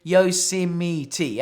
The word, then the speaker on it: Yosemite: are so he owned a bound saying you pronounce it Yosemite okay Yosemite and that's it all right so